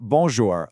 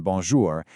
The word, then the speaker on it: bonjour: This is where the sound comes out partly through your nose. Let's actually try this together. Right now say the word bonjour like you normally would. Okay. Now try saying it again, but this time gently pinch your nose.